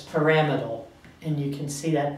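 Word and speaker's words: pyramidal: m i d a l and it's not pamal pamal it's paramal and you can see that pronunciation is actually given to you in your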